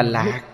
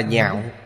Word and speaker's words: nhạo: Chữ này không đọc là lạc, mà đọc là nhạo.